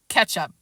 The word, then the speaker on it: catsup: "Catsup," I read out loud, though of course I pronounced it ketchup.